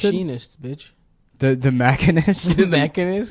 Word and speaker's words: The Machinist: He made the Mechanist before he did Batman. Is that how you Begins. pronounce it? Machinist, bitch.